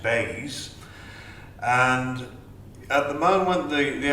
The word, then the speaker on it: BEIS: DEC have just been morphed into a new government department, which is pronounced BEIS.